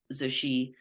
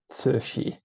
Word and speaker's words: Cixi: He was an Italian diplomat, and he wrote a 1936 biography of Cixi called The Last Empress.